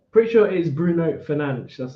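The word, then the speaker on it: Fernandes: say it then pretty sure it is Bruno finan that's how you say finan I pretty sure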